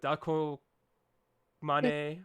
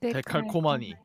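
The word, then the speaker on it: Décalcomanie: Second place, Mamamoo with, okay, I never pronounced this right, but Dako Mane. Tekalkomani. That's it.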